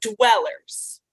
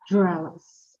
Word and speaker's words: dwellers: line ground oh Ground Dwellers dwellers dwellers dwellers yes so it's not really the r sound it's the W sound the WW wagon sound right so d d